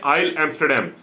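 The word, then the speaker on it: Île Amsterdam: इसका प्रोनाउंसिएशन है आइल एम्स्टरडैम, a French scientific base.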